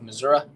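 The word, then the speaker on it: Missouri: Regional as well uh based out of Missoura as the locals say uh we got LFA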